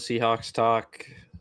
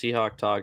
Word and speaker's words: Seahawk Talk: I'm with Seahawks Talk. Actually, it's just Seahawk Talk. I butchered my own name.